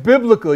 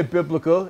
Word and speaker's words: biblical: choose me yeah and biblical you can't say biblical it's biblical there's no I there it's b i l